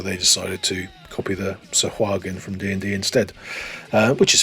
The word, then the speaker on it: Sahuagin: Some people say Haugen, Sahu, it sounds like John Fashanu who had gladiators. Sahuagin, or Sahaugen, or Swagen, you know, I think it's Sahuagin.